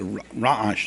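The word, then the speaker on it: רעש: Now, in real correct Hebrew, ra'ash is the ayin is a very guttural letter. It's a ra'ash. The Sfardim know how to pronounce it.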